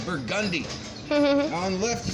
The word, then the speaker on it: Burgundy: A couple streets over, you go over to, it's spelled Burgundy, but everybody says Burgundy.